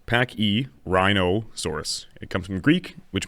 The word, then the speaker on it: Pachyrhinosaurus: Now, its name is pronounced Pachyrhinosaurus.